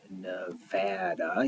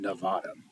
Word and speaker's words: Nevada: and we are in Nevada. You know you're from Nevada when you say it, Nevada. And if you hear anyone say it, Nevada, then they're saying it wrong and they're not from here.